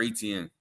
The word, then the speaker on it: Etienne: Yeah, it's Trevor Etienne. I don't know why I feel like I was saying it wrong, but gotta establish Trevor